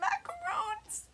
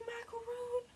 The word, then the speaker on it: macaron: And macarons. They're macarons. They are macarons. Why did you spell it like macaroon? It's macaron. It's a macaron.